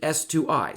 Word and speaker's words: s2i: i've told you already i don't like pronouncing this like a word because there are no vowels i'm conscious that yes this does contain vowels and yet i still pronounce it s2i string to int there are people